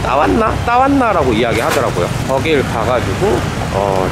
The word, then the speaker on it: Tawana: 아까 말씀드렸다시피 방카피몰 근처에 있는 타완나라고, 태국인 발음으론 따왔나?